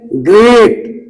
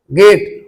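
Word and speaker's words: great: गेट मैन कहते हैं तो आपको गेट मैन नहीं ग्रेट जी आर ई ए टी आर के बाद ई है आपको पढ़ना है ग्रेट उ टी आर यू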